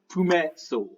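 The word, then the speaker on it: Pumatsol: its fine owner uh you may call me puma soul hey what what's what's that name what's that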